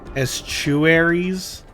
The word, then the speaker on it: estuary: Estuaries? Like, even though it's a T, it's pronounced CH.